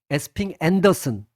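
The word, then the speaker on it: Esping-Andersen: 어, 여기 에스핑 안 뭐 에스핑 안데르센이라고 여기를 읽어도 되고 또 뭐 다르게 읽으면 앤더슨이라고 읽어도 돼요. 에스핑 앤더슨.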